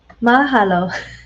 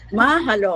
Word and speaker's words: mahalo: Mahalo or how do you pronounce it? Mahalo. Mahalo.